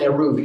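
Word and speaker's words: Eruv: So I think it's called an Aruv UV is how I pronounce it. They might pronounce it a little differently.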